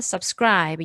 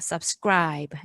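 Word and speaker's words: subscribe: 아니라 슈얼 그래서 싸 브라 아이비 게 아니란 썹 스크라이브 이렇게 발음을 하셔야 됩니다 섭 스크라이브 이렇게 끝에 있는 이 발음하지 않고 그 담이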